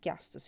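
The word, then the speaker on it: χιαστός: I know that for sure, the pronunciation is chiastos in Greek for cross.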